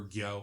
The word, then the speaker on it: Gyo: Or Gyo, I think it's actually pronounced, the one with the I fish.